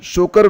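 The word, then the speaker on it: Tso Kar: ये देखिए त इसमें साइलेंट रहता है, शोकर वैली, जहां हाल ही में इसरो द्वारा होप एनालॉग मिशन लॉन्च किया गया।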